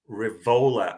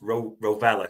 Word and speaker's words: Rovella: Liverpool joined the race to sign 23-year-old Serra star Nicolo Rivola. I think it's pronounced Rovella, sorry, that way.